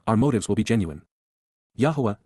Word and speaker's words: Yahowah: Yahwa Yahwa God's personal and proper name pronounced Yahwh based upon haya to exist examines the genuineess back